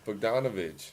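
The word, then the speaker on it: Bogdanović: Won it with Oh, it's Bogdanovich. there you go. Oh, come on now. Bojan. Whatever you want to call It's him. Bogan Bogdanovich.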